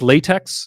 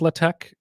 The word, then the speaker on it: LaTeX: others love using latch I know it says latex but it's pronounced latch and if you say latex to someone using